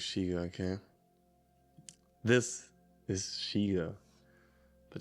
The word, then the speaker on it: chego: Now I'm sure it's Shigo, okay.